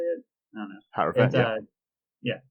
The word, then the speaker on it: Hierophant: So, for those who might not know, Ora Skyclave Hierophant, I think is how you say it. I don't know. Hierophant, yeah.